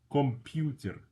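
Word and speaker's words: компьютер: Computer computer. Computer. Computer. Computer. First O is unstressed. The U is stressed.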